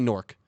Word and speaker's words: Newark: They Newark. would say Newark. So that's I how it should work. be I pronounced.